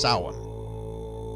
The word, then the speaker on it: Samhain: They were known as Celts, and they celebrated a holiday known as Samhain (pronounced Saw-win. This is the Gaelic word for “November”).